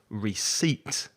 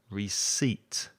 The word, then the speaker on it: receipt: english but receipt has two syllables and the stress is on the second syllable so receipt receipt and recipe has three